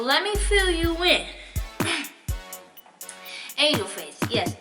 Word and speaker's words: Aynjewl Faycc: It is your girl, Aynjewl Faycc, right here in this video.